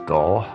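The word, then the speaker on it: Dull: my favorite English town names is doll yeah and it's actually spelled the way it's pronounced d-u-l-l and then they're the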